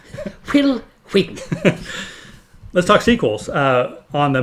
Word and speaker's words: Wheaton: Let's talk, why are you pronouncing the H? Will Wheaton.